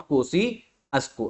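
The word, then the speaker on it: Kosciuszko: है ये है आपका माउंट कोसी अस्को ठीक है ऐसे प्रोनाउंस करते हैं माउंट कोसी अस्को अरे एक सेकंड रुके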